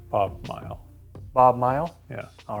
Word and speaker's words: Mighell: how do you say your last name Bob mile Bob mile yeah all right Bob mile I